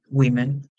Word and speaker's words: women: importantísimo que sepan que la pronunciación de la palabra mujeres en plural es eh irregular porque esta o suena como una I Wi women cuando es una sola mujer es u con una u Woman women Woman women are